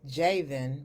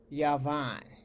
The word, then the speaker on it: Yavan: Today, I'm going to discuss what the Holy Bible says about the sons of what looks like Javan, but it's actually pronounced Yavan, or the sons of the Greeks in the Old Testament.